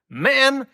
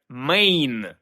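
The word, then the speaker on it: Maine: штат основної частини США мен немає жодного стосунку до чоловіків маскулінності і так далі Бо насправді треба вимовляти його як Мейн є дві версії походження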